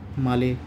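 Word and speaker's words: Malé: रखना है रुफिया और कैपिटल है माले या मेल भी बोल सकते हैं आप।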